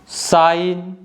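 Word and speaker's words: sign: Paradigm में देखिए जो लेटर ए है ना यह ऑलमोस्ट साइलेंट है और जी भी साइलेंट है। नेक्स्ट वन है डिजाइन, साइन और नेट।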